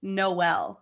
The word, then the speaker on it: HIJKMNO: And it's pronounced Noel. No. Because there's no L. HIJK, no L, MNO.